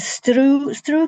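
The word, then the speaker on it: sruth: And Strew can sometimes be spelt with a T and sometimes without the T, but the pronunciation is the same.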